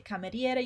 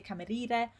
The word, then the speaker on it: cameriere: We also said that when we have vowels together in Italian, we pronounce every single vowel, except if this vowel is just there to make a specific sound, like in this case.